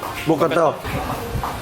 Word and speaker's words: Bokator: The proper way to pronounce Bokator, it's Bokator or something? Bokator.